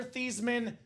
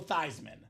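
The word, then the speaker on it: Theismann: they said Hey Joe let's change the pronunciation of your last name you are no longer thieman you're now Joe thyman now Joe nice person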